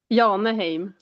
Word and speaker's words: Jaheneim: How do I How do I pronounce your last name? Yahheim. Say again. Yan. Yahheim. Yanah.